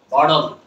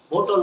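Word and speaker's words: bottle: বটল। বোতল বলবো না, বি ও ডাবল টি এল ই বোতল। সারা জীবন আমরা কি বলছি?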